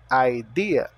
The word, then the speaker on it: idea: tenho have ideia Idea o i tem o som de i o e tem o som de i e o a tem o som de A então ideia aideia Você tem alguma ideia